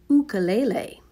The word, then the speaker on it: ukulele: we actually are mispronouncing ukulele it should be pronounced ukulele did you know that Elvis Presley played the